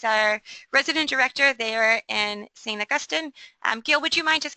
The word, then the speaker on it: St. Augustine: Augustine, or UWI as folks call it, and to also be continuously reminded that St. Augustine is the appropriate way to pronounce the city name.